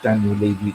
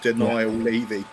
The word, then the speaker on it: Daniel Levy: If it's not if it's not Daniel Levy not spending money. Now, I I made actually a like the comment. way you mispronounced that, mate. Denial Levy.